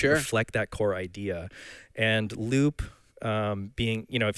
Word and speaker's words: Loupe: because you always called Loop and right for the listeners out there Loop is spelled l-o-u-p-e for context yes the control Loop